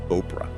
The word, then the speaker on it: Oprah: start how so so it was orpa originally Biblical name but people kept mispronouncing it as Oprah and it just stuck huh like Destiny calling